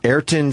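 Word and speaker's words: Ayrton: how do you say his first name eron eron Senna yeah it started in 1985 the movie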